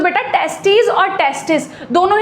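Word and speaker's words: testis: तो बेटा जब हम लोग पेयर की बात करते हैं कि लाइक हम दो टेस्टीज की बात कर रहे हैं तो स्पेलिंग में हो जाता है TESTES, दिस इज टेस्टीज। लेकिन अगर हम सिंगल टेस्टिस की बात करें तो इट इज टेस्टिस, जिसमें आई आ जाता है।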